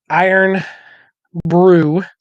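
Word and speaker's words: Irn-Bru: and then we're going to go to a iron Brew because that's how you pronounce it let's see Liquid Gold okay let's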